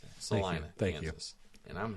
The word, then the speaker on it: Salina: Now that I know it's pronounced that. Salina, Thank you.